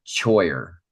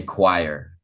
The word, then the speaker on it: choir: That's what it's spelled like. Normally in English, we would say like choir, but we say choir.